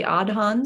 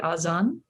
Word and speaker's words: adhan: prayer through this beautiful it's called the adhan sometimes in the azan azam is how you say it yes and and